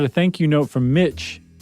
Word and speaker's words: Mich: And then we got a thank you note from Mitch, M-I-C-H, but it rhymes with Rich.